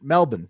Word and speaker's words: Melbourne: I'm just gonna let Melbourne Melbourne sorry that's how they say it uh news7 tell you